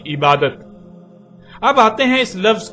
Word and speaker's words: عبادت: عربی کا لفظ عبادہ جب اردو میں شامل ہوا تو اسے عربی کی بجائے اردو لہجے میں تے کے ساتھ بولا گیا اور بولا جاتا ہے، یعنی عبادت.